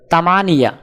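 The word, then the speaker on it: ثمانية: আরবি ক্রমিক সংখ্যা 8 দেখতে এরকম, উচ্চারণ হবে তামানিয়া।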